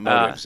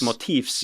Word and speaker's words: motifs: It's not motives if it's motifs. Motifs.